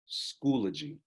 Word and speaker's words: Schoology: to need to know and know how to pronounce so at home right now just play it the right way schoology all right parents we also wanted to uh